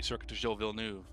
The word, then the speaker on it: Circuit Gilles Villeneuve: Do appreciate that you pronounced it properly, Circuit Gilles Villeneuve.